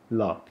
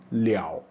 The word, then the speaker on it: 了: Yang pertama kita baca liao, yang kedua kita baca le.